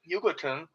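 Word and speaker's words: Jugoton: It is Yugoslav, and it was on Yugoton, because Jugo will be pronounced Yugo.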